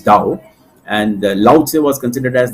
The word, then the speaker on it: Tao: given by laoz say and Tao actually is being pronounced as Dao and laoce was considered